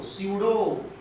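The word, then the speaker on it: pseudo: लिए हो सकता है क्योंकि इसमें एक वर्ड साइलेंट होता है कौन सा वर्ड साइलेंट होता है गौर से देखिएगा इसको इंग्लिश में बोलते है पी य डीओ सूडो सॉलिड ये जो है इसका प्रोनंसिएशन होता है सूडो और इसी को हम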